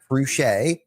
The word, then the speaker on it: Fruge: So Matt Fcher, boom, you got it.